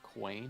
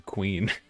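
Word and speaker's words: Kwain: It's Quain. Oh, it is Quain. I thought you were just mispronouncing Queen.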